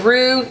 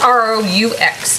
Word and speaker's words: roux: melt more quickly all right uh basically a roux is just a beginning of a basic white